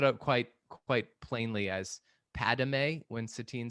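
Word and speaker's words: Padmé: satine in this episode she pronounces it padme with the third syllable oh yeah similar to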